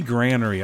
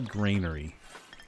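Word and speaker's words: granary: Granery. I actually looked that up. You can say that you that's proper pronunc pronunciation. Whether you say granery or grainery, both are acceptable.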